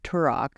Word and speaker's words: Turak: So let's talk about High Lord Turok.